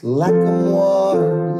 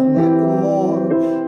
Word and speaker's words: Lacamoire: It's Lacamoire, like it rhymes with guar, not Lacamoire, like it rhymes with chore.